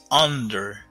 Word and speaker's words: under: The ball is under the ball. Hay muchos estudiantes que me dicen under. Esa U no se pronuncia como una U, se pronuncia como una A.